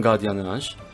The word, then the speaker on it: gardiennage: In this case, the G is pronounced with a G sound if the next letter is an A, O, or U, so you get the other sound if there's an E or I.